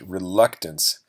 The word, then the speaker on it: reluctance: reluctance again it's pronounced reluctance stress on the second syllable luck reluctance and in spanish